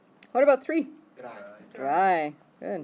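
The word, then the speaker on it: drei: z what about three dry dry good is so pronounced just like the word dry what about four fear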